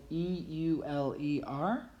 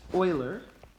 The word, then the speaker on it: Euler: which is actually spelled E-U-L-E-R. Many people when they first read this think that it's Euler, but it is actually pronounced Oiler.